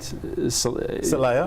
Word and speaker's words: Selliah: Selliah?